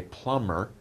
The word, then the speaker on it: plumber: A plumber, by the way, don't pronounce the B. The B is there, but we just say plumber.